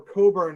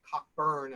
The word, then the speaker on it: Cockburn: perspective uh cockburn um or coburn as the british pronunciation but cockburn as we americans did um receives the the